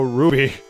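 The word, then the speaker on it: RWBY: never seen it myself yeah I know it's pronounced Ruby it's pronounced Ruby I know I just like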